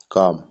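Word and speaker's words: calm: अगला वर्ड है काम। यानी इसमें एल साइलेंट है।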